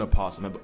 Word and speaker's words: opossum: again that is an opossum before y'all get on me some people say the yo is silent others don't animal planet pronounce the oh so i do too and the difference is